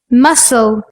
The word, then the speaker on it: muscle: bomb Klim lamb some like the letter C in muscle sent scissors when we